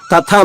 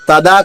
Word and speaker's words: తథా: తథా ఇక్కడ తాత్తాలు 2 వరుసగా ఉన్నాయి. తథా మాత్రమే, తదా కాదు.